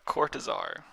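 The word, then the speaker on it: Cortázar: Yeah, Cortazar.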